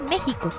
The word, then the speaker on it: México: de Luna del naa los aztecas lo pronunciaban México los españoles lo escribían México ya que no existía la pronunciación de la J cuando cambió la grafía de la x a la J se le empezó a llamar México pero se siguió escribiendo con x es válido pues la